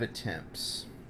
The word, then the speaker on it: attempts: in the next 5 attempts. Attempt. It's hard to pronounce a T after a P. Attempt. Or, I guess a P, a T, then an S. Attempts. Attempts.